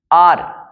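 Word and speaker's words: hour: elephant ocean N ocean आर क्योंकि इसमें H silent है ना तो आर स्वर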